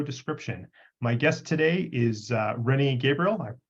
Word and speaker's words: Rennie Gabriel: My guest today is Rennie Gabriel. I pronounced that properly, correct?